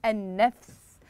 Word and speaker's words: النفس: رائع جابه مميزه نعم النفس النفس نشاهد هنا اللام كتبت ولم تنطق والحرف الذي بعد اللام مشدد هنا ممكن ان نرسم